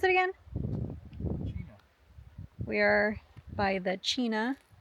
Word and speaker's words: Chena: How do you pronounce it again? Chena.